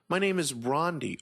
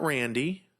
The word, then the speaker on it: Rondi: My name is Rondi, R-O-N-D-I, not Randy, not Rondi with a Y, not Rondi with an H, not Rodney, Ronnie D, it's Rondi, R-O-N-D-I.